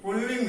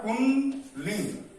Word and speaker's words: पुंलिंग: स्त्रीलिंग नहीं, पुल्लिंग है। पुंलिंग, सही उच्चारण होता है पुंलिंग।